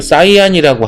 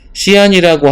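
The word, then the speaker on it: cyan: 근데 시안이라는 색은 뭐 사이안이라고 하기도 하고 발음은 이제 자유니까 여기서 보면은 약간 이런 느낌의 파란색이야. 이런 느낌의 밝은 파란색. 그거를 시안이라고 하기도 하고 사이안이라고 하기도 하는데 너희는 그냥 밝은 파란색이라고 알고 있으면 돼.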